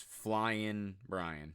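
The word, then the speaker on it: Flyin' Brian: a huge pronunciation Guy Brian pillman's name is flying Brian no G okay yeah and I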